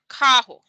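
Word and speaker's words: carro: we have here is car in portuguese which is kaho kaho and then the next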